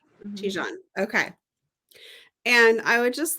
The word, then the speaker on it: Tijan: How do you pronounce that name? Tijan. Tijan.